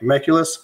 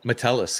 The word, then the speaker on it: Metellus: Meculus? Oh, Metellus, yeah.